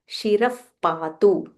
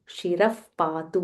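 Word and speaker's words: शिरः पातु: में शरह पातु सो हियर यूजिंग द विसर्ग रूल देयर इज़ अ विसर्ग फॉललोड बाय प so when we are pronouncing it वी से शिरफ पातु शिरफ पातु ब्रिंग द लिप्स टुगेदर शिरफ पातु लोक रक्षात्मा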